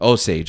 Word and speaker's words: Osage: the story of the, how do you pronounce it? Osage? Or yes? People. And not to give away. Oh, the Osage. Osage, I'm sorry, yes.